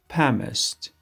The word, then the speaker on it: plumber: Pumiced, pumiced, الش سایلنت است, pumiced, کفشناس, pumiced.